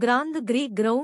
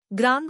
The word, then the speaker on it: ग्रां: एक मंत्र आहे ओ ग्राम सह गुरुवे नमः हा बीज मंत्र आहे हे ग्राम ग्रीम अस उच्चारू नका ते अशुद्ध आहे ग्रांग म्हणजेचे उच्चारण नासिका आणि तोंडातून समोर येणार आहे दररोज 108 वेळा या